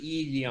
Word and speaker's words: Yi Liang: You pronounce it Yi Liang.